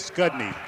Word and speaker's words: Skodny: That pronunciation is Skodny.